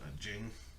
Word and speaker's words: Ging: It was weird because it sounds like Gene, like Gene, but it's spelled Ging, so it's Jing.